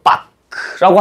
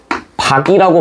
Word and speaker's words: 밖: 이거를 빡크라고 하진 않잖아. 뭐라고 발음해? 바이라고 발음하죠. 박이라고 발음하지.